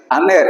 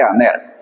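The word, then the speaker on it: ἀνήρ: Decíamos que hay un espíritu suave que aparece con esta comita, como dice acá, dice aner. Es como colocar una H antes de la A. Ahí la H en español sabemos que no tiene fuerza, solo se dice aner.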